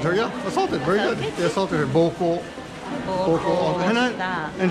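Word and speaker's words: 膀胱: It's the same pronunciation.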